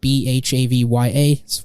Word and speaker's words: Bhavya: Or on LinkedIn, you can search my name up, and that's spelled BHAVYA.